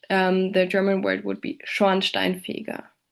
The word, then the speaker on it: Schornsteinfeger: Compounds have a primary stress at the beginning of the first word and a secondary at the start of the second part of the compound.